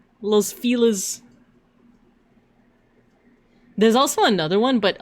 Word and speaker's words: Los Feliz: But yeah, the city name that I put in the chat, at least from what I recall people saying, it's pronounced Los Feliz. Los Feliz.